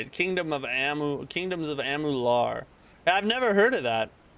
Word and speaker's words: Amalur: Kingdoms of Amular. Oh, that's how you say it. Kingdoms of Amular.